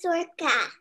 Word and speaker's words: Sorcha: good good what's your name my name is circa can you spell it for me s o or c h